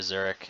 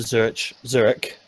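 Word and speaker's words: Zürich: So yeah, the pros basically close to Zurich. I need to stop pronouncing the ch because I'm doing Zurich.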